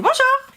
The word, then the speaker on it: bonjour: uses to say bonjour because when you like read someone you're not gonna say bonjour i'm gonna say bonjour you're gonna go a little higher up here i would say